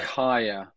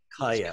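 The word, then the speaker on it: Kaia: can outreach is it k-a-i-a how do you pronounce that higher higher okay yeah it says knowledge so tell us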